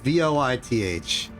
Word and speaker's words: Voith: Voith. because it's German. It's German-based pronunciation. According to Google Translate, it's like fight, which is my attempt to repeat what it's saying to me.